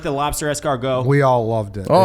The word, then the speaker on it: escargot: and he's not even fucking pronouncing it correctly. Escargot.